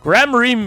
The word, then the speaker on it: Gramarye: Let it be I, Valent Gramarye, who brings the I said it right the first time. Gramarye miracle back to the big stage.